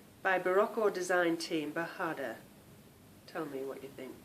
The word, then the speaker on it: bajada: it's called B bahada it's a g in it and I think you pronounce that with a um a h Sound by baraco Design Team bahada tell me what you